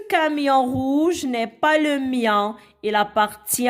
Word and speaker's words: mien: Le mien, c'est le son yan, I-E-N se prononce yan.